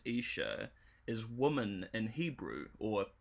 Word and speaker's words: Isha: So, Isha, or Isha, pronounced Isha, is woman in Hebrew, or Eve's second name, of Adam and Eve fame, right?